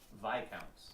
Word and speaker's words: Viscounts: that they'll say the name again but it's vi counts oh it's called hey sorry you're right it